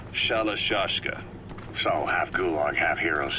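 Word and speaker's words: Shalashaska: have known about that because somewhere along the line shashka got stuck on the end of sriracha the gorillas were using the name amongst themselves by the time i got to hearing about it pronunciation had wound up as shalashashka so half gulag half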